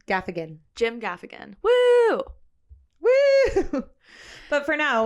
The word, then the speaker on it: Gaffigan: do you say his last name gaffan Jim Gaffigan woo woo but for now we have a